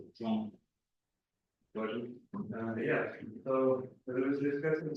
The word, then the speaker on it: João: right of the Polish, the projection of my name onto the Polish language could be something like this. If you pronounce, for those who speak Polish, you pronounce something like this, it's a good approximation to my name.